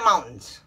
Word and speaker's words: mountain: at least we pronounce mountain mountain yeah mountain what is that mountain i'm going to go see the mountains we miss the t but really it should be pronounced mountain so let's review mountain